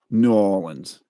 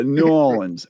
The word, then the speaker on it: New Orleans: good buddy was from New Orleans and he said New Orleans yeah like the not nans right right no there's another syllable in there yeah New Orleans it all flowed together